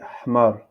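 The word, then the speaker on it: حمار: Donc, on a ici H, H, H, je prononce comme le Ha, Ha. On peut dire ici Ha. Par exemple, ici, Lan, An, en Darija, on dit Hmar. Prononce Ha, Hmar, Hmar.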